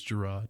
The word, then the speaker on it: Jarrod: i love that man yeah i bet teachers were pronouncing it wrong and everything so that kind of helped everyone yeah everyone mm-hmm syllabus day yeah mr mr jared yeah yeah you know it's jerrod well i like it